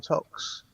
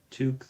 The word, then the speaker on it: toque: pronounced toque, though. Who? Okay. What is it? Yeah, Toque, toque. not tock.